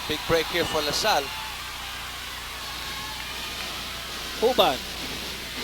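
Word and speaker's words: Juban: Uban commits an offensive foul. Big break here for LaSalle. Uban. That's spelled J-U-B-A-N.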